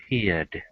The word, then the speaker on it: feared: Okay, remember it says in general it's just going to sound like a D. Okay, so how would I pronounce that word? Feared.